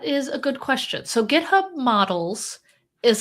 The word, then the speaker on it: GitHub: Is that a hard G or a soft G? GitHub is a hard G.